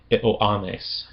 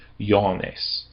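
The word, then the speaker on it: Ἰωάννης: If you're going to be a purist and pronounce it only with the Erastian pronunciation, you would pronounce it Ioannes. Ioannes. However, if you allow for the Semitic origin of it, it'd be more like Ioannes.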